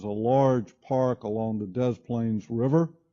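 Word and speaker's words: Des Plaines: see this is a large Park along the Dez plains River it's actually how it's pronounced the smaller areas that we see here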